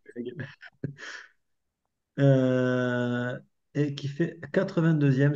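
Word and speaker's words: Rüegg: Kim Kazu, effectivement, qui pour la deuxième année consécutive a piqué la place de chouchoute de l'équipe à Noémie Rueg, qu'on prononce Rueg.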